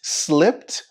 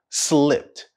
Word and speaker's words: slipped: it slipped my mind here we have a consonant cluster with S and L slipped slipped and if you listen carefully you'll hear a t sound at the end of the word slipped slipped slipped my